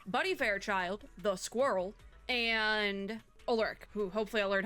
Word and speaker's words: Ulrich: Fairchild, the Squirrel, and ULRICH, who hopefully I'll learn how to actually say his name. I'm pretty sure the CH is like a K sound, but words are hard.